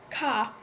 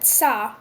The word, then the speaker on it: ça: For example, principi, princes, and principi, principles, are pronounced different, with different stress, and in French, ça is not pronounced ca, but ça because of the cedilla.